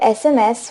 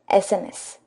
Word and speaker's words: SMS: friends similarly SMS so for SMS when you again listen to this word carefully you'll get a w sound but over here we have a consonant s but it has a wow sound that's why we will